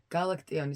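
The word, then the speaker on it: Galaktion: How do you pronounce it? Galactione.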